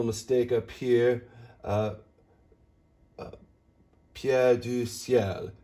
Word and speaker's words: ciel: Pierre du ciel. Ciel is one quick consonant, one quick syllable. You glide through it.